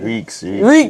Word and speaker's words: Reeks: He He told me that I have to pronounce the Is the Reek? I'm getting the Reek right. Reeks. Reeks. Reeks. Reeks. Reeks.